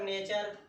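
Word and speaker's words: nature: और यहाँ पर नेचर, तो यहाँ पर टी के बाद यू आया है, तो इसका भी उच्चारण स्थान क्या पढ़ेंगे, हम चा ही पढ़ेंगे।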